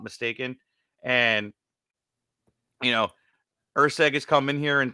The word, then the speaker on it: Erceg: So it is Lucas Erceg.